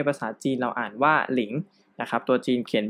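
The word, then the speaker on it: 零: ที่ 10 นะ ครับ คำ นี้ อ่าน ว่า หลิง แปล ว่า 0 นะ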